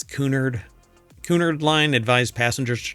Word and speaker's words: Cunard: I don't think it's pronounced Cunard, right? It's Cunard.